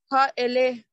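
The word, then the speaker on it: הָאֵלֶּה: Ha-ele. Beautiful. Beautiful. Now, we have three syllables in this word. Ha, that's one. E, that's two. Le, that's three.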